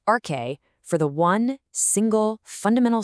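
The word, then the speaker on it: ἀρχή: It's this Greek word, pronounced arche, for the one, single, fundamental stuff that everything else in the universe comes from.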